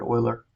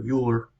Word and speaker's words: Euler: numerical method by Leonhard Euler or Euler, I don't care what you say, by using Euler's method. There's some debate on how to say his name, but eulogy, we don't say eulogy, so.